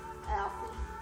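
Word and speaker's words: Alpha: what was her name Alfie Alfie a l p h a Alfie you very seldom ever hear that name anymore how do you say it a l p h a Alie it's pretty nice it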